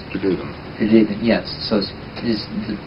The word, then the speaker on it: Pelevin: Russians pronounce Pelevin.